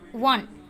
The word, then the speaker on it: one: Because we pronounce the one, it's like one, VON, one.